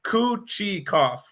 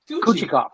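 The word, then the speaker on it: Kochetkov: the pronunciation for it it's kuchi kopf kuchi kopp like it's coochie coffee coochie cheese you can't feed them it's like you can't feed the cooch uh and you it's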